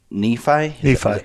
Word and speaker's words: Nephi: Yeah, last time I came down here, you guys were in Nephi? Is that how you say it? Yep. We had it in Nephi for several years.